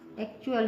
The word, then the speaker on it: actual: या ACTUAL, इसका pronunciation एक्चुअल हो जाएगा, एक्चुअल।